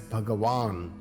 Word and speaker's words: Bhagavan: six attributes of Baga is pronounced as bhagawan with a long vowel a just as somebody who